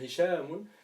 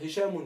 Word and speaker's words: Hisham: Par exemple, moi je m'appelle Hishamun, je veux pas dire Hishamun, je veux dire Hisham.